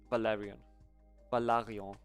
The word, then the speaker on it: Valarion: Valarion. That's how you pronounce it.